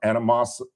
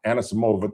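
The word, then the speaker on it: Anisimova: four Americans along with Koko Goff and an Anamas I never pronounced Anna Samova thank you and who's the other American who still got a shot?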